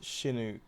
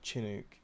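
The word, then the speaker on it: Chinook: Um, Chinuk is pronounced Shinuk, not Chinuk.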